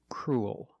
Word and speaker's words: cruel: to a dark L cruel it sounds like pool and cool you have the long o sound followed by the dark l pool cool and this